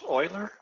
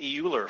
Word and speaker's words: Euler: range of problems so is that how that's pronounced Oiler okay I've been calling it Euler for a while but is it it's Oiler